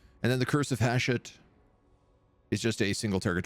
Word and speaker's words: Hashut: I think the accent goes on the second syllable. Hashut or Hashut? I think you might be right. I think it might be Hashut.